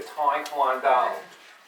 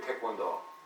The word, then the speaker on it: Taekwondo: When I hear Taekwondo, my kids go to Taekwondo, you know, and then you go to Korea, Taekwondo, you know, which is the right way to pronounce it.